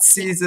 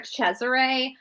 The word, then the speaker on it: Cesare: like that Cesar right Cesar cesari there's two different pronunciation Cesar or Chesire Chesire drives me crazy because there's no h but you know I